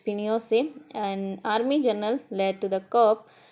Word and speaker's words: Pinochet: General Augusto पिनोशेट pronounced Pinochet, an army general, led to the coup।